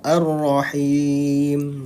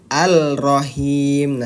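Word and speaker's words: الرَّحِيم: maka dia dibacanya apa dimasukkan diidamkan arah Ar arahim nah seperti itu jadi bukan alrahim nah jadi bukan Al ya karena dia ada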